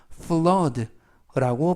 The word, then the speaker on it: flood: 표현은 라고 발음하시면 되겠고요 이때 발음에 유의하실 것은 알파벳 oo가 이중모음으로써 어 발음이납니다 대부분은 55가 이중모음으로써 우 발음이 나는데요 이번 단어에서는 예외적으로 어 발음이 나서 fload라고 발음하시면 되겠고요 품사는 명사 뜻은 홍수라는